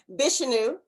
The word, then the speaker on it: Vishnu: awesome awesome okay um hold on vishyun height did i say it right okay vishnu this is new okay i'm gonna get it eventually it's like okay yes just like that already i'm to get